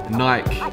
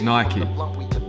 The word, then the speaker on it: Nike: Nike or Nike, depending on how you say it. Officially, it is Nike.